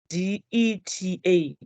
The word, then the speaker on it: debtor: It's called a debtor, not debtor. It's a debtor. It has there. I thought I put this. So it's pronounced as DETA, debtor.